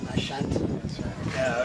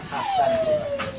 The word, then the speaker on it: Asante: Then came a time when the people in this part of the world, what is now Asante, wrongly pronounced Ashanti, it is Asante, correct, started establishing towns and villages.